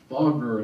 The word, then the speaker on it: Wagner: And his assistant, General Wagner, Wagner, I guess you pronounce it in German, wasn't very much help.